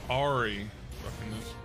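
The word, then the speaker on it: Ahri: put this out oh it's Ari he kept mispronouncing the name I couldn't not didn't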